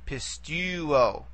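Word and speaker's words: πιστεύω: We try to take it back and we realize, aha, the last syllable is an omega, which is a long vowel. Therefore, we only can go back one vowel from the nearest long vowel, okay?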